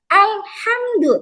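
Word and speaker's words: ٱلْحَمْدُ: Contoh alhamdu tadi kanam sukun ya enggak boleh dipantulkan menjadi al berlebihan alhamdu. Nah enggak boleh kalau itu identik orang India ya Bu.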